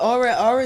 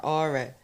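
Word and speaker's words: Ora: Well, aura is spelled O-R-A, Yeah.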